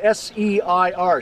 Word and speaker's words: Seir: In the Bible, it's spelled S-E-I-R, Seir.